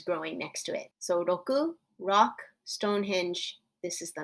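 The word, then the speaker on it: 六: rock and the number six in japanese is pronounced and this looks like a rock with some weeds growing next to it so roku rock stonehenge this is the number six take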